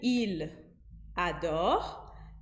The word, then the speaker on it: il adore: Ao invés de il adore, eu vou pronunciar il adore em 3 sílabas. Você viu que o L do il grudou com o A do adore para formar uma sílaba, para fazer lá.